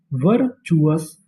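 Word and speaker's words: virtuous: टी यू को यहां पे हम लोग पढ़ेंगे चू और आगे लिखा है ओ यू एस उसे पढ़ेंगे अस। तो पूरी मीनिंग वर्चुअस।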